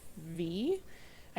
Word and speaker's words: Vi: she sometimes called her, I don't know if you would pronounce it Vi or V. I know some people just go by V. I say Vi.